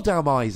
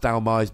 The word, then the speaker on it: Dhelmise: 4 Dhelmise, and I'm assuming it's pronounced Dhelmise because it's Hellman Demise.